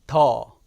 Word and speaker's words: 的: 인데 우리가 할 내용은 이 더 이 더 발음이 같아요 정체 는 기본적으로 구조